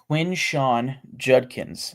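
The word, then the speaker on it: Quinshon Judkins: Quinshawn Judkins from Ohio State. I think if there's a guy that the Raiders are like most likely to draft right now, it's Quinshawn Judkins, not Quinshawn.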